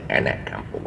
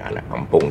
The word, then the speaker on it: Anak Kampong: American style is Anak Kampong. I'm saying Anak Kampong. This is how we pronounce it locally.